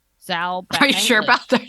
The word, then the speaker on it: Zal Batmanglij: Zal Batmanglij. Zal Batmanglij.